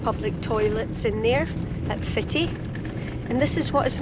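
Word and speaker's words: Footdee: There's also very well-maintained public toilets in there at Fitty. And this is what is known as the Fitty end of the beach. It's spelled foot d but pronounced by locals as fitti.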